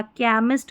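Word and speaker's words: chemist: केमिस्ट, केमिस्ट्री, coarse और character. यही spellings जो है जहां पर हम सीएच को क पढ़ते हैं।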